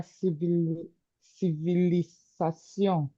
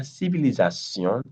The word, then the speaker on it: civilisation: Now, if you observe this word, la civilisation, the last I is not pronounced as E, but the first 3 are pronounced as E.